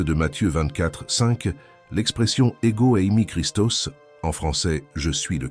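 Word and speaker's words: Χριστός: la phrase clé je suis le Christ se prononce ego ami Christos le terme Christos est dérivé du verbe grec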